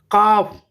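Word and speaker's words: calf: और नॉब, के इसमें साइलेंट है, ठीक है। काफ, गाय का जो बछड़ा होता है उसे हम कॉफ कहते हैं, ठीक है।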